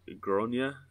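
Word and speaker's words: Gráinne: hard bollocked Maguire so I think it's pronounced like gronia but she's basically a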